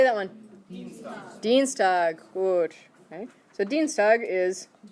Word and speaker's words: Dienstag: look at it carefully the IE which one you're going to pronounce the e the second one okay so how would you say that one dienstag watch okay so dienstag